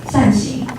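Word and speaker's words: 善行: Circular doors are popular in Taiwan because in Mandarin, these doors are called fan-shaped, 扇形, which is the same pronunciation as doing good deeds, 善行, which means you're doing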